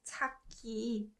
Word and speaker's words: 찾기: So this one is pronounced 찾기, 찾기.